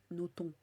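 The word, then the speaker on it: Nothomb: ah oui c'est vrai faut pas prononcer le B Noton avant je le prononçais jamais mais j'entendais tout le monde le prononcer donc je me suis dit qu'il fallait le prononcer sauf qu'en fait faut pas le prononcer bref euh donc ouais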